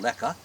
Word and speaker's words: Lehigh: But if you take the word Otto and you, like, they didn't pronounce the word Lehigh, they called it Lecca, Right.